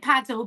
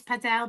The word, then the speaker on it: padel: I call it paddle, but I think I actually think it is padell, but I call it paddle. Paddle. or if you're posh pedel.